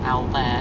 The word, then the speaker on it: Albert: morning we're heading to a place called Al which is spelled like Albert in the UK um which is all